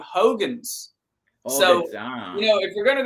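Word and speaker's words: Huygens: physicist ah yes but apparently they pronounce his name Hogans you know if we're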